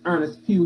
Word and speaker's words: Earnest Pugh: Right, but it's Earnest Pugh.